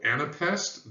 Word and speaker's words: anapest: adjective form is anapestic it's also three syllables long but it's exactly the reverse of a Dactyl so it goes unstressed unstressed and then the third and final syllable is stressed so instead of it's